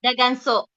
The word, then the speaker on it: daganso: daganso, daganso with an N, daganso.